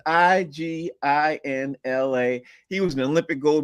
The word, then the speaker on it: Iginla: With me in hockey, Jerome Ignitia. I can't even pronounce his last name right, but it's Iginla.